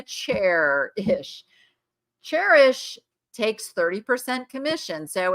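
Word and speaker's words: Chairish: No, it's Cherish, like a chair-ish.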